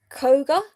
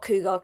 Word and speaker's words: Koga: I think it's Koga. No, not Cougar. That's definitely not Cougar.